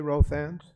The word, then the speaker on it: Rothans: - My name is Rothans, and that rhymes with both hands.